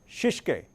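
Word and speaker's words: shitsuke: And sustain means discipline, and the pronunciation for the Japanese word is shishike.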